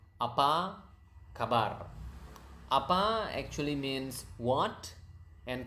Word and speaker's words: apa kabar: So, but going back, so how do you say how are you? It's apa kabar. Okay, apa kabar. That's how you say how are you? Apa kabar.